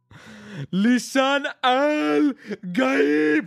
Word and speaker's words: Lisan al Gaib: Connor's real name is pronounced Lee's and all guy EB. Lisan Al Gaib.